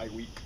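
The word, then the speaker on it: Żywiec: how to pronounce it the only way I really found out was I watched some commercials for each polish commercials cuz I saw people saying all kinds of stuff Z week and all that but I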